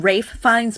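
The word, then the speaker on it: Ralph Fiennes: I'm saying Rafe Fines, but it's spelled like Ralph, but everybody says it wrong.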